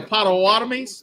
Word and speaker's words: Potawatomis: Home of the Potawatomis.